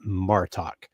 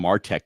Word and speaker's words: Martok: I think I call him Martek just now instead of Martok.